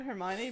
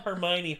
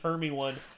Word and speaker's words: Hermione: go what is that Hermione but that's basically everyone I'll never get over sovietwomble making that mistake because he kept he called Hermione hermie one for like a solid year he's like because he